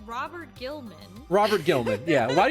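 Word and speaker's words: Roboute Guilliman: pronouncing his name wrong according to the lexicanum it's uh robot robote giliman it's rabute giliman it's Robert Gilman Robert Gilman yeah a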